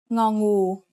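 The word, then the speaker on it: งอ: The first one is ngô. It makes the sound ng, just like the ng at the end of the word sing.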